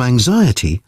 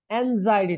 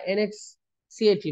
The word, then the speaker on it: anxiety: আমি ছোটবেলা বলতাম এটাকে এনএক্সিএটি বলতাম, এনএক্সিএটি, এটা হচ্ছে কি অ্যাংজাইটি, অ্যাংজাইটি, অ্যাংজাইটি।